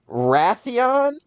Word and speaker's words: Wrathion: All right, so the first one is Raytheon. Raytheon? Raytheon, is that their name? No, it just made me think of Raytheon. Go ahead. It's Wrath I-O-N. That's the name.